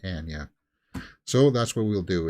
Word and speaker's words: Anya: is Anya Taylor Joy it's not Anya Taylor Joy guys it's Amya she she said it herself she pronounces her name Anya so that's what we'll